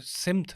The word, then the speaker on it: سمت: لیکن ایک وقت تک تو یہ غلط العام رہتا ہے نا کہ معاملہ، جیسے سمت لفظ ہے وہ اصل اس کا تلفظ سمت ہے.